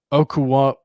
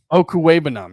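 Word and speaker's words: Okwuegbunam: But I think the bigger thing with his return is, and the return of, hold on, I've got the pronunciation, Albert Okuwebanam. Okuwebanam, yes.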